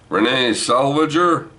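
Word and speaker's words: Renée Zellweger: year so far Judy yeah what's her name Renae salvager and that's how you pronounce it I liked it I thought it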